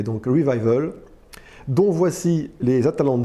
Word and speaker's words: Revival: une marque française alors j'ai demandé à la marque s'il fallait prononcer à avec l'accent anglais ou l'accent français on m'a répondu l'accent anglais donc revival donc voici les ataland